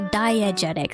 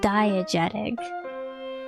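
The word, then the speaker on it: diegetic: No, diagetic. Sorry. Diagetic.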